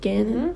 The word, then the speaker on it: Gannon: But yeah, Gannon, is that how you say his name again? Gannon? Mm-hmm. Like Cannon?